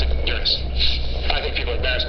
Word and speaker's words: Uranus: I pronounce the planet's name Uranus, which is very likely closer to the original pronunciation of the name of the god after whom it was named.